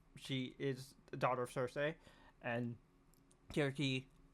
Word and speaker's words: Circe: is the daughter of Circe, and Kirki. I know I'm switching pronunciations. I've heard actually that the proper pronunciation is Kirki.